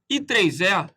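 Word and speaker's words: IEEE: vamos recapitular isso daí esse i3e se escreve i e mas lê se i3e traduzindo ele é um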